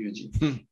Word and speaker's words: Eugene: Ça s'écrit Eugène, on dit Eugene.